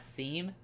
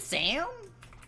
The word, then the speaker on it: Seam: Seam literally tells you how their name is pronounced and it's not seam. Wait, what? What? How do you pronounce it? Sam. Like Sam and Cat.